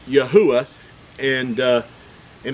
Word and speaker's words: Yahweh: knowing that the name of the Creator is pronounced Yahweh and uh and it's not and it's not